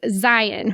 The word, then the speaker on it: Zion: me as much but the correct pronunciation is Zion rhymes with Lion if you're from Utah